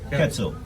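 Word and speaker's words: Ketso: quetzal k-e-t-s-o quetzal ketzel everybody calls me quetzal yeah mainly because it rhymes with fatso so is that first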